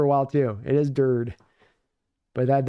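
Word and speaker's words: Durde: I didn't know his name was pronounced dirty. I was pronouncing it dirty for a while too. It is Dird. But that E's hard not to land on that E at the end of the name.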